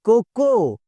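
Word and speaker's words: cocoa: Sugar, ये तो सारे सही बोलते हैं, इट्स not sugar, it's कोको।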